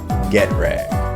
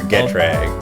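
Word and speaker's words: Getrag: come on come on it it's pronounced get rag or get rag okay all right I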